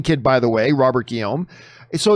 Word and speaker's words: Guillaume: a good canadian kid by the way robert guillaume so it's pronounced guillaume i you know what i think you told